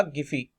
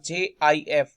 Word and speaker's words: GIF: इस गिफी का इन्होंने जो प्रोनाउंस किया था उसका नाम रखा था JIF। मैं फिर से यहां पर बोल रहा हूं JIF, ठीक है। तो JIF रखा था, लेकिन इसको इन्होंने लोगों ने प्रोनाउंस किया क्या? GIF यानी जिसको गिफ आप फाइल कहते हैं।